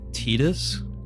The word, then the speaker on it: Tidus: I can play Tidus, and that's how you pronounce his name, which is going to put another counter on this.